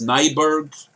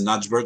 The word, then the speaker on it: Nyberg: Tiffany Alexis, I think that's Nyberg, because the J is sometimes pronounced as a Y. I don't think that's a Najberg, it's a Nyberg. Has launched a new website.